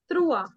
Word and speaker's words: trois: 3 in French is Trua.